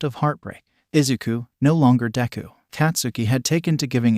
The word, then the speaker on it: Deku: that your name could be read as de pronounce deu since you're so stupid katsuki had repeated himself